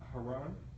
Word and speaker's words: Haran: spell it please h-a-r-n and how's it pronounced haran okay all right anyone have any idea where